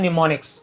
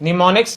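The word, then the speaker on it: mnemonics: योग्य बात है कि यहां पर इसकी स्पेलिंग स्टार्ट होती है उनसे जब पीएम साइलेंट होता है इसे पढ़ा जाता है निमोनिक्स निमोनिक्स अल्फाबेट और डिजिट यानी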